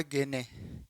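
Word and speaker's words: Gagné: में आपने पढ़ा होगा रोबर्ट गने तो गने होता है तो गने की स्पेलिंग जो है इस तरह से लिखते हैं यह बीच में जी और आ जाता है यानी कि साइलेंट वर्ड होता है तो इस तरह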